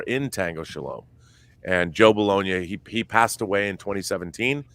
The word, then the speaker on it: Bologna: rob how does the director of tango shalom pronounce his last name bologna okay it's gabe bologna and his father uh joseph bologna was an